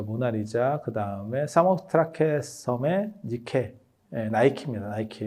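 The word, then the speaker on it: Nike: 그게 밀로에 비노스 그다음에 어 저 모나리자 그다음에 사모스트라케섬의 니케에 나이키입니다. 나이키. 예. 나이키는 영어 발음 때문에 나오는 거예요.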